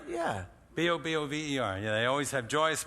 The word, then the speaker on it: Bobover: Bobover.